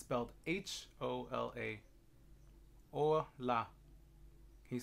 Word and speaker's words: hola: school so to say hello in Spanish it's hola and it's belt H Ola or la you say with me hola hola great job thank you mr.